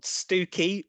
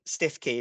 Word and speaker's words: Stiffkey: to do this, because we have places like Haysborough, which, if you're going to read it phonetically, is written Happisburg. yes. It's a great place, fantastic pub. We've got Stooky, which is again Stiffkey if you're going to read it out as it's written.